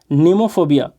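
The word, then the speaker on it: mnemophobia: नेमोफोबिया। ए एम यहाँ पर silent है, और नेमोफोबिया है, इसका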